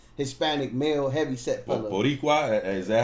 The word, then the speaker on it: Boricua: Boricua, is that how you say it?